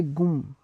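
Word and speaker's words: gomme: So to eraser we will say gum, G-O-M-M-E, gum.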